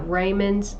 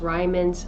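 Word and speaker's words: Riemann: he talked about uh rayman's I think it's pronounced ryman's U metric tensor Einstein's theory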